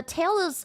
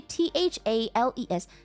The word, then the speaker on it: Thales: Here, you can see the name. It's actually Thales. Then his name is like Thales or something. Thales of Miletus. I read it so wrong.